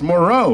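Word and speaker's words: Moreaux: That's spelled E-A-U-X, Moreau, like, you know, go Tigers.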